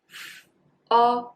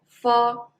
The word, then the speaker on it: fo: Well, mo and fo, you can just follow mop, mo, follow, fo.